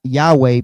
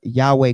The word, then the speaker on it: Yahweh: um likely pronounced Yahweh based on lingu linguistic and historical clues. We're going to get into that. Jehovah, right, is a medieval hybrid of the YHWH plus Adoni vows.